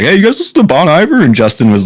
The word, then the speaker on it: Bon Iver: to Bon Iver like yeah apparently how you're supposed to say it like I found that out like a couple weeks ago and I'm like wait what I've never heard anybody say it like that but like I don't know I guess that's how you say it like I don't think I think every person that listens to bonavir has to be corrected on like because I remember